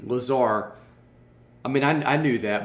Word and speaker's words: Lazarre: It's Lazarre. Lazarre, as in, what? Give me a word like that would. Bizarre. Bizarre. So like strange. Yeah, take off the BI and add a LA, you got the pronunciation.